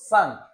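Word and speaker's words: cinq: আমরা জানি যে ই এন এর উচ্চারণ হচ্ছে আ, আর এরপরে হচ্ছে কিউ, তার মানে হয়ে গেল সাংক।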